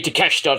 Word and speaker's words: Takeshita: Japanese man himself, Konosuke Takeshita, or Takeshita, Takeshita, whatever you want to say. I mean, you say Takeshita, I say Takeshita, because that's how it's pronounced.